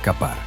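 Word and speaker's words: כָּפַר: Se pronuncia capar y la sustancia misma, la brea es cofer.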